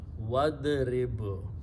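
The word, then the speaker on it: وَاضْرِبْ: So when waw and idrib will come together, we do not pronounce this alif in the middle. It becomes hamzatul wasal, which means don't pronounce. So you combine waw with dad, wadrib.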